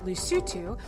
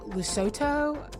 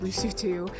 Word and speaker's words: Lesotho: week tdy assignment in lucitu which i always want to say lesotho because that's what it looks like and i'm from the south but you pronounce it lucio too and it's its very